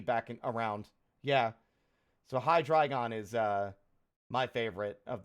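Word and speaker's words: Hydreigon: would be a Pokemon whose name I've been pronouncing wrong for my entire life, ever since it was introduced. Hydragon. Hydragon. So it's it's eins dry, right? Hydragon. Yeah, I used to say hydrian.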